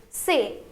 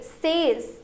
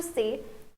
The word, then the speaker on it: ces: Please repeat sir and this is say. You cannot pronounce s here. You cannot say says. No, it's wrong. You have to say say.